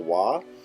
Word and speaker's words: は: careful to notice that it is actually spelled with the hiragana symbol for ha. So when you're reading, that may initially confuse you, but when used in this way, it is actually pronounced wa.